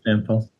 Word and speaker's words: Jampel: Is that how you pronounce it? Jampel? Yep, that's right. Okay. Yeah, Jampel.